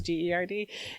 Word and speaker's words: Gerd: Well, then I saw her name written, and it's like Gerd, right? Like, well, it's Gurd, but the pronunciation's Gerd, and it's like, yes, that terrible disease.